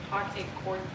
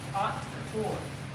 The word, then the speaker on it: Haute Couture: Haute Couture.